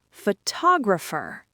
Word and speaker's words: photographer: Photographer. This is where the magic happens because the stress moved to the second syllable. That second O suddenly wakes up. It becomes a strong clear vowel.